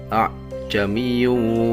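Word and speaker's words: ءَاعْجَمِيٌّ: Cara membacanya, di tengah-tengah antara huruf hamzah dan huruf alif, sehingga lafal yang keluar tidak seperti hamzah, tidak juga seperti alif, akan tetapi lafal yang keluar di tengah-tengah kedua huruf tersebut adalah samar-samar.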